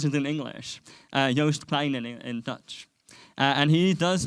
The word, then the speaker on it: Joost Klein: I'll try and pronounce it in English. Joost Klein in Dutch.